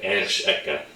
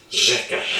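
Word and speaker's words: řeka: When you see it in a word, it's pronounced differently. You don't see here ersh eka. This means river, by the way. Instead, it's pronounced rzeka.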